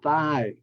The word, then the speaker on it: thigh: s salmon and then in thigh the GH is silence same with Asma asthma